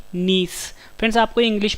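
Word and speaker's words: gneiss: है A option D नीस friends आपको English में वर्ड याद रखना है इसकी स्पेलिंग है जी अपनी आई डबल एस मुझे साइलेंट एंड नीस जो है जब ग्रेफाइट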